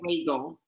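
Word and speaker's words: Reigle: Regal. And Regal is spelled R-E-I-G-L-E, I believe.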